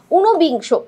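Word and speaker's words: উনবিংশ: উনবিংস। উনবিংস এটা দেখো উচ্চারণে আমরা ন এর সাথে একটা ওকার পাচ্ছি।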